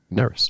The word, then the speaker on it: Nerys: peace and love uh nerys it's pronounced like it rhymes with Ferris oh so you did it right nerys yeah nerys sh n that was